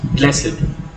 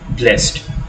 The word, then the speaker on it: blessed: Blessed, sometimes we pronounce it as having two syllables, blessed, and sometimes we say blessed.